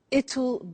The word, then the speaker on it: it'll: now will is easy really it's just the pronunciation which is difficult I said tomorrow it'll be cold you notice how it will becomes ital strange pronunciation yeah so tomorrow it'll be cold it'll be sunny it'll be winter